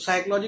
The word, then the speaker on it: psychology: तो वो प से उसकी साउंड थी, इन्होंने उसमें हटा दी उसमें। तो साइकोलॉजी की स्पेलिंग होती है PSYCHOLOGY, पी से शुरू होती है साइकोलॉजी की स्पेलिंग।